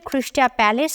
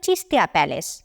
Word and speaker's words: চিস্তা প্যালেস: উচ্চারণগত কারণে অনেকে এটিকে খ্রিস্টিয়া প্যালেস বলেও ডাকত। আসলে এর উচ্চারণ হবে চিস্তা প্যালেস।